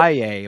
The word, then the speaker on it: Valle: Del I would have Valle, my friend, Hispanic pronunciation. I would have thought it was French, but he is Cuban.